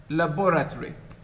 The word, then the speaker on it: laboratory: reduced to schwa and the vowel in the last syllable which is o is deleted you see that it is not in in my pronunciation it's compressed it's not there laboratory oh this is different